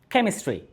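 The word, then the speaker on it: chemistry: তারপর হচ্ছে কেমিস্ট্রি, কেমিস্ট্রি শব্দ দেখুন সিএইচ রয়েছে, তবে সিএচ এর উচ্চারণ এখানে ছয়ের মতো নয়, এখানে হচ্ছে ক্ষয়ের মতো।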